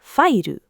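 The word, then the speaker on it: ファイル: And where English has a syllable Japanese never had, katakana just builds one. We for webu, fa for fairu, ti for security.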